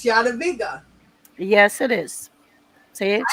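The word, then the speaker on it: Jadwiga: I know, and it's Yadaviga. Yes, it is. See, I know it. that it's I very nice. You pronounced it very nice.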